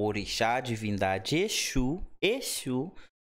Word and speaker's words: Exu: Echo Echo É Espírito Exu é divindade tem um s com som de ch shl é de a pronúncia é bem diferente de qual religião saiu